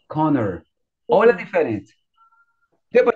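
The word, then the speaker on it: Conner: Mas você não fala Connie. Você fala o quê? Connor.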